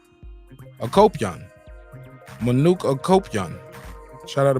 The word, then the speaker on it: Akopyan: Manuk Apakya? Akopyan.